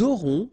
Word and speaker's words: aurons: J'aurai, tu auras, final S not pronounced, il aura, elle aura, nous aurons, final S not pronounced, and then you make